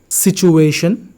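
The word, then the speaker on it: situation: So first one, learner, pizza, सिचुएशन, schedule, Japan, poem.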